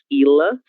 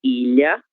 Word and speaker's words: ilha: Não é ila, sino que ilha, ilha.